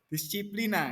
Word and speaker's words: disciplina: Bahasa Latinnya tulisannya DISCIPLINA. Bacanya apa, Bob? Disiplina gitu ya, yang artinya belajar.